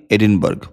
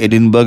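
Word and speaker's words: Edinburgh: স্কটল্যান্ডের রাজধানী এডিনবার্গ। বাংলায় এডিনবার্গ লেখে কিন্তু একচুয়াল উচ্চারণ হচ্ছে এডিনব্রা।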